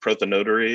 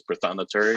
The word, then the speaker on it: prothonotary: So I learned very early that it's not prothonotary, it's prothonotary. But that's the only way you know how to spell it, though, if you have to say it that way.